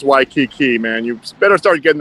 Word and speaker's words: Waikiki: jason shapiro the cow champion well reporting live i imagine from uh wakiki where are you at where it's waikiki it's pronounced waikiki man you better start getting that right because